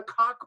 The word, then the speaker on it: Koch: These people are wholly owned by the Koch brothers, which, by the way, is the correct pronunciation.